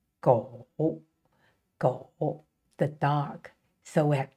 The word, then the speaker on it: 狗: animal which is a dog and it is pronounced go go the dog so we have two parts the